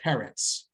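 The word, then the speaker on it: פֶּרֶץ: Well, Paretz grammatically here, because sometimes the 3-dot vowel becomes the T vowel. The segol becomes a kamatz when it's the last word in the line. So otherwise it's pronounced Peretz. Okay, but when it's grammatically speaking, when it's the last word in a sentence for the Torah, it becomes Paretz.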